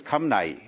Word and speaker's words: Khamenei: As far as Khamenei, it is not Khomeini, it is Khamenei.